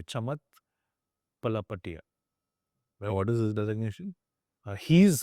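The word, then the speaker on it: Chamath Palihapitiya: I'm trying to pronounce it the Indian way. Chamat Palapatia.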